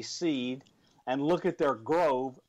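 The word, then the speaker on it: Seeed: Pi you can go to a company called seed and that's spelled s with three E and A D seed and look at their Grove grve sensors and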